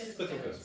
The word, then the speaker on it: Spitalfields: He was in um How do you pronounce this? Spitalfields? Spitalfields. Spitalfields, Brick Lane.